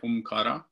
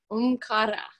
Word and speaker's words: Omkara: Well, it depends on your where you come from, I guess, but I say Omkara. Mm-hmm. It's not an American R, it's a R more sound, but it doesn't matter. Omkara.